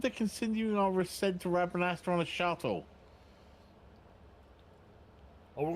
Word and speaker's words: Rabanastre: Welcome, Putai descent into Rabanat. Pronounce that city name again? Rabanastre.